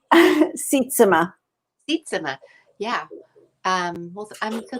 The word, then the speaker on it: Sietsema: ways we don't need last name knowledge right sitsima yeah um well i'm so thankful that you're